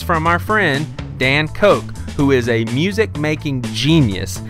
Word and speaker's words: Koch: The music in the background, it's from our friend Dan Koch, who is a music-making genius.